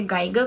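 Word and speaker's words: Geiger: हैं, उसका नेम है गीगर काउंटर, जिसे गाइगर काउंटर भी प्रोनाउंस करते हैं, गीगर काउंटर भी प्रोनाउंस करते हैं।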